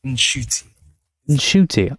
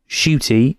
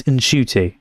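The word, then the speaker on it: Ncuti: this entire time so it's not shooty it's in shy so the N is pronounced I'm going to try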